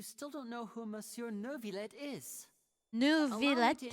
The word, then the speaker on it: Neuvillette: Wait, Nervilette? Nouvelette? Nouvelette? I Nouvelette. saw you all chatting just now, but it seems you still don't know who Monsieur Neuvillette is.